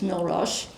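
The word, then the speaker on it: Mille Roches: Well, the places that were flooding were my village which was Milash. Um we that's how we pronounce it just like Rakid de Swashim became Swissa.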